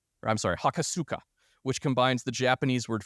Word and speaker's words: Hakosuka: GTR was soon bestowed with the nickname of hakura I'm sorry hakosuka which combines the Japanese word for box with